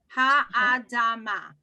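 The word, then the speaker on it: האדמה: Right there, because of the symbol under the aleph, we're going to pronounce Ha-Adama.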